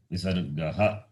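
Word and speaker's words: visargaḥ: Visargaha. It is pronounced as visargaha.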